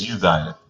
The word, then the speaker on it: Uzziah: Did I hear you pronounce it Uzziah? Is it Uzziah? it's Uzziah.